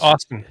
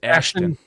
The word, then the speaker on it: Ashton: So is it Ashton? Or is it Austin? It's Ashton.